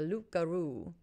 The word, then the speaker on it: loup-garou: No, the lips didn't touch. There was no P.